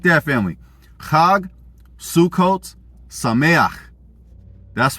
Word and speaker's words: Chag Sukkot Sameach: Chag Sukkot Sameach. That's right. We flexing. I know us black folks ain't used to saying our gutturals, but that's how you say it.